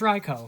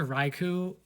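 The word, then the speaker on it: Raikou: many things I mean let's talk about ryko so it's raiko first of all I've heard raiku from probably every major like famous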